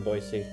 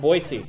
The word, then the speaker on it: Boise: thought and it's pronounced boisey most of the country pronounces it Boise but we learned it's pronounced boisey when we got there um we had a